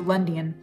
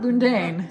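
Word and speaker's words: Lundein: they were going to Lundian, which I found out is how that's pronounced. Not Lundain, it's Lundian, you know.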